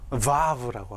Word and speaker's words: vav: 영어에서는 워 이렇게 발음하지만 유럽에서는 v라고 합니다. 그래서 유대인들도 유럽에 있는 유대인들은 이 자음을 v로 발음을 하고 영미권에 있는 분들은 워라고 발음하기도 합니다. 그래서 이 이름을 저는 vav라고 하겠습니다.